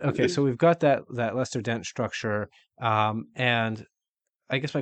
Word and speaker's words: Lester Dent: also generally having the conflict, and then once we have these components, um, the Lester Dent. Am I pronouncing that right?